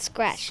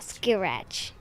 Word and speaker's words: scratch: Also, it's pronounced scratch, not skirach.